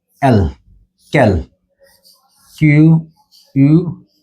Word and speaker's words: quel: এল ও এস ক্যাল আচ্ছা এই প্রত্যেকটার উচ্চারণ কিন্তু এই ক্যাল ক্যাল এই ক্যাল প্রত্যেকটার উচ্চারণ কিন্তু একই কল কল অর্থাৎ প্রত্যেকটার উচ্চারণ হল কল তো এই উচ্চারণ এবং